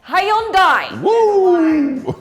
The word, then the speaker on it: Hyundai: the u aluminum and how do you Say Hyundai. Hi Hondai. Definitely a Y.